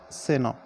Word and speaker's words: Senor: The pronunciation of this word is Seno.